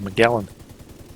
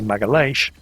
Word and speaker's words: Magalhães: that today bears his name, the Straits of Magellan. Something that's been pissing the Portuguese off ever since, because his name was actually Magalhães, and everybody's been mispronouncing both him and the straits that he discovered ever since.